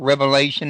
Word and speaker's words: Revelation: which by the way you you pronounce correctly a lot of people say Revelations but there was only one Revelation to John um but yeah